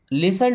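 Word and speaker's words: listen: देन लिसन टू मी। इसे लिस्टेड नहीं पढ़ना है। देखिए टी यहां पे साइलेंट है।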